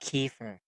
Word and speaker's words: kefir: Hey Siri, am I saying Kyer right? Okay, I found this on the web for am I seeing Kefir, right? Check it out. Kefir.